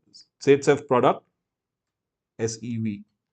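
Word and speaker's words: Zaitsev: So this is Z-Sef, oops, or we can also call this Z-Sef product, SEV. That's how he pronounces it. Khair, V is pronounced as F.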